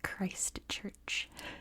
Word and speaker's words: Christchurch: Where I'm from in California, we don't say the T's in the middle of words, and we barely pronounce CH's in the middle of words, so I say like Christchurch. So I have to say Christchurch, just so you can understand what I'm saying.